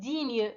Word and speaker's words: digne: digne هذيك تقرا digne حرف الجاي ما تتنطقش.